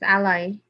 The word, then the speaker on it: Alli: It's Alli.